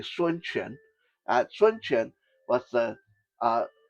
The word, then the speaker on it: Sun Quan: Sun Quan, in English, some people tend to pronounce it Shun Quan, but it's actually Sun Quan.